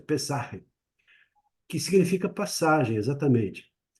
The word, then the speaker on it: Pesach: que a palavra Páscoa também ela tem a origem no hebraico, que é Pesach, Pesach. Eu tenho talvez judeus aqui ou de origem judaica que possam talvez melhorar a pronúncia, Pesach, que significa passagem, exatamente.